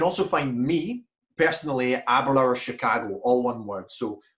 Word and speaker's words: Aberlour: And you can also find me personally at Aberlour Chicago, all one word. So I don't know if you'll be able to see it, but it's Aberlour spelled like that, A-B-E-R-L-O-U-R.